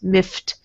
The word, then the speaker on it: miffed: And notice miffed ends in a T sound because this F here is not a voiced sound. You don't use your voice to make F happen. So it's miffed because T also is not voiced.